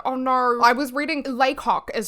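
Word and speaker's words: Lacock: I was reading it as like Lok in my head, like like a French person presenting a rooster. Like Lok, that's how I was reading it.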